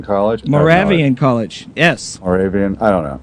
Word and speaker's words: Moravian: do you say the college more Mor College Moravian College Moravian College yes Moravian I don't know it's a small school never